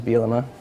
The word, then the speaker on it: Bielema: supposed to be so people could actually uh pronounce my last name which is bilima um so mobile am I was supposed to